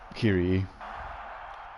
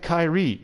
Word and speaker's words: Kiri: the mr mr song kiri which i will put a link to right now because not like a lot of people pronounce it kyrie and i'm like no that's a man's name and to be perfectly